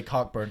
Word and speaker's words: Cockburn: He is pronouncing it Coburn, but I'm going to say Cockburn.